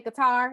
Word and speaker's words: Qatar: in 2018 i lived abroad i moved to qatar which is qatar we say guitar but you know that's just how we talk but it's pronounced culture which is one of the wealthiest countries in